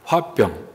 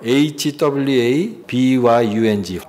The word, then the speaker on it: 화병: 화병. 그래서 발음도 화병, HWABYUNG, 화병, 이게 화병이에요. 가슴에 이 응어리진 것을 계속 표현하지 못하고 참고 누르니까 이게 나중에 병이 된 거죠, 병.